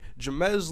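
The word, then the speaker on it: Ja-Mes: jabez Loggins name and I've checked the Ole Miss football roster as a hyphenated first name and then I also checked the Ole Miss 2011 football guy that has a pronunciation guide for weird names on their team @ j a.m ezz was the pronunciation so I believe I'm doing it right Jimenez Logan just to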